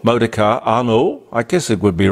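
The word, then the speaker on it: Arnault: a guy called Bernard Arno uh spelled a r n a u l t which I guess you'd pronounce it like the Renault modar ano I guess it would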